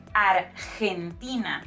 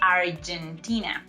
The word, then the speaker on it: Argentina: Argentina. Remember that the letra G, that letter G, in Spanish sounds like H when it goes before letter E and letter I, like in this case.